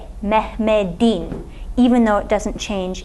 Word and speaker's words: Mehmet'in: say "Mehmet'in" Now notice this "t" is still written as at a but it's pronounced as a "d" - "Mehmet'in" even though it doesn't